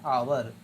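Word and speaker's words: hour: I shall be back in आवर, H consonant है लेकिन sound इसका, प्रोनाउंसिएशन इसका भवेल है, क्योंकि एच ओ यू आर को पढ़ते हैं आवर, तो क्या होगा इन एन आवर।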